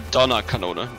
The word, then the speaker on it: Donnerkanone: No, Donnerkanone. Donner just means thunder.